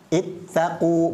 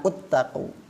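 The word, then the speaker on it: اتقوا: ituuni contoh yang lain ini bukan dibaca uttaku ya karena ittaqu ini adalah jamak berarti ini harusnya dibaca ittaqu bukan uttaqu yang ini juga bukan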